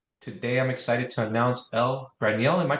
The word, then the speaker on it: Ell Graniel: Today, I'm excited to announce Ell Graniel. Am I pronouncing that correctly? Yes. Okay, Ell Graniel.